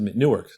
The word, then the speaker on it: Newark: town that'll come to newark delaware and it's pronounced new ark down there and when i was